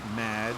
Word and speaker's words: Madge: It's Madge, which rhymes with badge, as in duh, and no as in more than you.